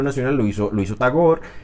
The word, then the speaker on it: Tagore: que se llama tagor aquí en Colombia dicen tagore pero bueno la r no hay que pronunciarla tagor bueno tagor tagore tagor